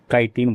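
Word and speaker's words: chitin: अरे यार सॉरी यार मैं क्या मजे लेने के चक्कर में बोल देता हूं इसको वैसे प्रॉपर जो प्रोनाउंसिएशन है प्रोनाउंसिएशन है वह इसका क्या होता है काइटिन बोलते हैं इसको ना कि आपको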